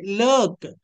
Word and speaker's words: lurk: When we find vowel as well as the letter R in the middle of any English word, that term, both letters together must be pronounced like BURN burn, FIRM firm, TURN term. ఓకేనా? ఇలా చెప్పాలి. ఇకపోతే ఇక్కడ LURK లర్క్, LURKED లర్క్డ్. చూడండి, పై రూలేనండి.